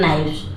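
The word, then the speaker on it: knife: बोलते है ठीक है तो यहां पर देखि के हमेशा साइलेंट रहता है तो के वर्ड्स जो है एन के बाद अगर एन के पहले के लगा हो तो के वो हमेशा साइलेंट रहता है देख आप इसको पढ़ते है नाइफ के साइलेंट रहता है के बोलते नहीं है लिखते हैं केवल हिज स्किन वाज हर्ड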